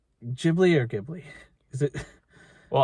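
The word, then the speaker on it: Ghibli: it did what a gibli jibli or gibli is it well I mean in in Japanese it's a jiy JY Studio jibli Movie should which is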